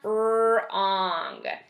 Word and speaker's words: wrong: door okay wreath ah let's do one more wrong wrong like if you're driving the wrong way